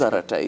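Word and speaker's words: Arattai: out and we have we What is Aratai?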